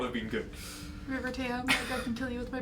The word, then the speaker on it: River Tam: the dragon which would not have been good river tam can kill you with my brain okay it's river tan pan apparently when i pronounced it sounds like river tan um anyway